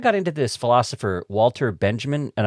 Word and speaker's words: Benjamin: And I've also heard it pronounced banyamin but maybe that's only by like the my pedantic uh philosophy friends when I was like working in the university they would be like walter beyamin.